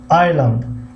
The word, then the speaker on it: island: island اینجا در اس تلفظ نمیشود. در کلمه ایسلند اس تلفظ نمیشود، سایلنت هست، یعنی خاموش است، یعنی تلفظ نمیشود. پس island خوانده میشود.